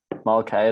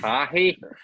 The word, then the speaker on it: Mulcahy: Mulcahy is the way like Australians say it. Mulcahy. Mulcahy Mulcahy. is the way the Irish people say it. Mulcahy.